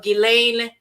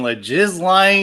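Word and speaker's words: Ghislaine: Maxwell by the way did you know that that's how it's pronounced I had to look it up no idea I didn't know the S was silent I've been saying ledge is lying Maxwell like I have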